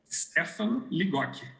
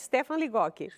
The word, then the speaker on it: Stefan Ligotti: Essa é a pronúncia correta? Stefan Ligotti. Ligotti, então eu falei correto, Stefan Ligotti.